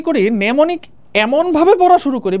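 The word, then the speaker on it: mnemonic: balance দরকার এখন আমরা নেমনিক হ্যাঁ নেমনিক বানানটাও কিন্তু আমাদের ইম্পর্টেন্ট একটা বানান নেমোনিক মানে এম টাকে এখানে পাত্তা দেয়া হয় নাই আর কি আচ্ছা নেমনিক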